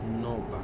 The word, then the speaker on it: Nürnberg: And Nuremberg pronounced as Nürnberg.